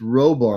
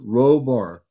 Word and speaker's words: Roar: His name is Roar, like rowing a boat. Roar.